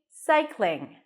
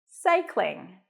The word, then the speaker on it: cycling: up for the L so you want to transition directly without adding a vowel in between so it's not cycling but cying it's not a big deal if you put awah there but try to connect the two sounds together together cych cling like the